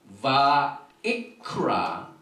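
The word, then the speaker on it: ויקרא: 바 이크라 엘 모셰 바이다벨 아도나이 엘라 메오헬 모엣 레몰 이렇게 발음을 합니다.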